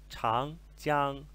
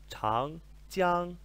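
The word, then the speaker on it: 长江: e vai aparecer muitas vezes para vocês é chang, jiang. Chang, a maioria de nós já deve saber que significa longo, ok? Chang, chang, chang, jiang significa o longo rio, ok?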